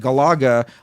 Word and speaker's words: Galaga: Because I learned from the guy who invented it how to pronounce It's it. Galaga.